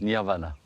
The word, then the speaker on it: nirvana: Samadhi, plus connu en Occident sous le nom de nirvana, prononcé à la française nirvana.